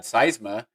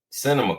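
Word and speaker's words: Sinema: that, but you had Manchin and you had Seisma from those how do you say that? Cinema, Christian cinema.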